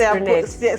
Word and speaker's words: Brinnette: I hope I pronounce it right with Brinnette. It's Brinnette.